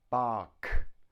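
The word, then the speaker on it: Bach: bark two syllables bark notice the CH bark the CH is cut cut it's a hard sound so we have buck now that sound CH is also found in the word chemist chemist chemist so it's a hard k but it's spelt see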